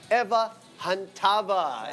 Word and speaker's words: Eva Chantava: Eva Chantava is how you pronounce her name.